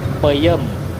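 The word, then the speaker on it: peuyeum: Buniseri atau kayak ini nih peyem. Ee peyeum. Tapi dibacanya pakai e aja sih.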